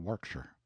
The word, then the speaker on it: Warwickshire: Banks sellers vicount Berkeley of chundy Castle Warwickshire pronounced cbri Slover Marshbank sellers vicount Barkley of Chumley Castle warshire he is standing by a great window in